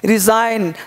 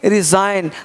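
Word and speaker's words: resign: को क्या दिया है जी से पहले इन रिजाइन तो क्या बोलेंगे रिजाइन तो इसमें जी क्या रहेगा साइंस रहेगा क्या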